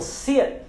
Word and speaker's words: sit: Temos também outras palavras, por exemplo, como sit, sit down, sit down. Nós não falamos sit down, sit down.